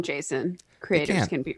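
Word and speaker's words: JSON: I pronounce it Jason.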